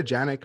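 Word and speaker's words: Janick: with his jacket yeah do you say jennick or yannick i say yannick but it's i think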